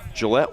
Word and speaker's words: Gillette: And did I pronounce that name right, Aaron? You sure did. Gillette, Wyoming.